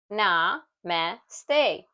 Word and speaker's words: namaste: How to pronounce namaste? Na-me-ste.